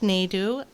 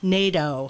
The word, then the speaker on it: Nadeau: so we have a guest today um nick nadu and doe i knew i was going to mess that up i asked him about five times people what is how to pronounce his last name nato okay so nick nato is from clearpath for